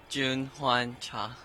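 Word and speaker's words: Cha Jun-hwan: got to work on me how do you pronounce exactly your name Jun Juan cha Jun Juan chai cha cha okay I'm not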